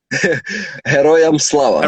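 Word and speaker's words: Героям слава: You say I need the pronunciation again. Heroyam Slava.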